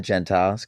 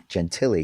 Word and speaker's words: Gentile: Gentiles get some work I always was referred to gen gentiy because my dad and my uncle were Twins and they wanted to have different pronunciations to be separate so we took the genti they took the Gentile and then I turned